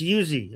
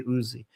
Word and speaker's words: Uzi: First of all, to the person in the chat saying it's not Yuzi, it's Uzi. Well, in Persian, it's Yuzi. Okay, I'm not I'm pronouncing it based on the Persian version of it.